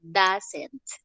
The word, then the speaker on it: doesn't: No se dice does, not, sino doesn't. Bien, esta O y esta E suenan como una A.